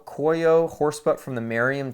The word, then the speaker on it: Cuoio: the one in horsebutt this is coyo i think is how you say it c-u-o-i-o coio horse butt from the